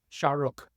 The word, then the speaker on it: Shah Rukh: Shah Rukh.